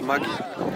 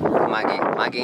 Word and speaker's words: Maggi: It's pronounced Maggi, and it's German. Maggi in German.